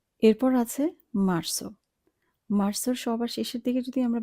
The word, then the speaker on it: marzo: আমরা উচ্চারণ করব মার্সো, বলবো না মার্জো।